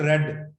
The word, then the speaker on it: read: लिखा रीड रीड रीड ही जाता है, READ READ और READ, लेकिन पढ़ा इसको रीड रेड रेड जाता है।